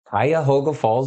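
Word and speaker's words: Cuyahoga Falls: a town if anybody pronunciate pronounce it pronunciate pronounce it it's um Kaya hoga Falls Ohio which is by akan it's north of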